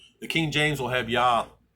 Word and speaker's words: Yah: And Yah said to me, and I use the name Yah, W or Y-A-H, Yah. The King James will have Yah. It's J-A-H one time in the King James, but it's pronounced Yah.